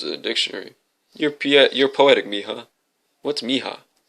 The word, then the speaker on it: mija: You're poetic, mija. What's mija? Mi hija, he pronounced it slowly.